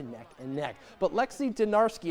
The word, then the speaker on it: Dinarski: But Lexi Dinarski, it doesn't rhyme with clutch, but it rhymes with three. Dinarski 3 in North Carolina grabs the home upset by double digits, 80-70.